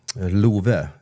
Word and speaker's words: Love: top of that um Lou his his name is l you pronounce it Lou but it's spelled love right right so how